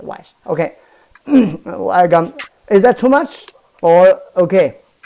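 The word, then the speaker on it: 木: Okay, is that too much or okay?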